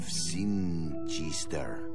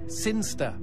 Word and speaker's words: Sinchester: But Elliot Thomas was still stuck down on Earth in the boring town of Sinchester. Sinster. What? It's pronounced Sinster.